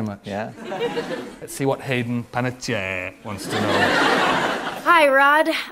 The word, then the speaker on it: Hayden Panettiere: Hayden Panettiere. Nicely pronounced. Thank you very much. Yeah. Let's see what Hayden Panettiere wants to know.